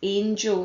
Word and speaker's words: angel: It's not angel or even angle. An angel and angle often get mixed up. It's angel, that A sound is there.